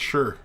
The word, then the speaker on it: shire: with friends Hey Fidelis anything that sounds like Shire here is pronounced sure sure like sure sure sure